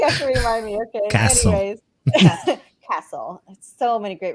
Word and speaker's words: CASEL: I've been saying CASEL. What is it really? How do you pronounce it? Castle.